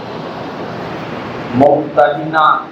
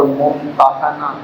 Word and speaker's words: ممتحنہ: ان کا امتحان لیں۔ اس کا تلفظ ممتحنہ اور ممتحنہ، یہ دونوں تلفظ اس کے ہیں۔ ایک کا معنی وہ